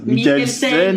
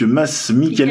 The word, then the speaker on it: Mads Mikkelsen: très très ressemblant au bras de de masse Michael scène parce qu'on m'a dit qu'il ne fallait pas prononcer le dé non ça se prononce pas je me suis fait reprendre hors caméra donc masse Mikel et c'est pas Michael scène c'est Michael scène